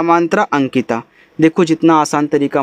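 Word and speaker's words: Ankita: ए एन के आई टी ए, इसे पढ़ते हैं अंकिता, क्योंकि लास्ट वाला ए जो है वह मात्रा जरूर लगाएगा, उसे आप साइलेंट नहीं कर सकते।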